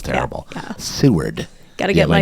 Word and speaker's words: Seward: that homer or alaska is it what it's pronounced seward by the way sue with alaska that's funny